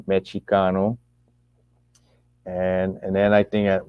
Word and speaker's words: Mexicano: Mexicano, because they didn't pronounce the X with a SH, they pronounced the X with a CH, right? Mexicano.